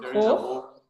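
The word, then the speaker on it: хох: Maybe hoch. Mountain. Yeah. You mean? Exactly. Yeah. Yes. How do you pronounce it? You pronounce hoch. it like with like an H hoch.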